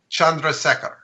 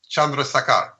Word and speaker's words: Chandrasekhar: regular science, by a man, if I can pronounce his name right, an Indian astrophysicist named Subramanian Chandrasekhar. Chandrasekhar.